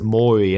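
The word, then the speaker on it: Mouri: part of it um they spell it m-o-u-r-i i think yeah yeah but they pronounce it mori and that just made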